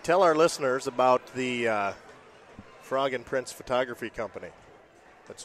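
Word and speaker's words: phrog: You're going to think that it's spelled F-R-O-G, but it's mm-hmm. This is creatively spelled P-H-R-O-G, frog. As a play off of photography.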